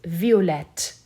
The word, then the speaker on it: violette: Instead of just adding an E, you'll have to double the T before you add the E. Now the pronunciation is violette. So masculine is violet, violette for feminine.